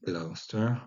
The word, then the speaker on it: Gloucester: Klaus Gleoastre, Gleochastre va devenir Gloucester, attention à la prononciation.